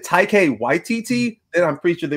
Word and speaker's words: Taika Waititi: The answer, of course, was the one of Taika Waititi's films. Unfortunately, he answered. Oh, Taika. Yeah, Taika Waititi. He pronounces it like not even close. I remember that. Like it's like Tiki Wakiti.